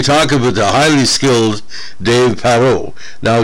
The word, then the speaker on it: Parro: going to be talking about the highly skilled dave parrot now dave perot uh p-a-r-r-o pronounced like jewel bear pro but not spelled